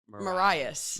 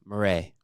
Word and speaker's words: Marais: so it's not Marias. No, Marais. Marais.